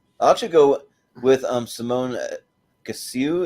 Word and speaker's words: Kessel: Well, I'll actually go with Simone Kessel. Is that how you say it? Kessel. Yeah. Oh, Kessel. The things throwing me off. Those are L's.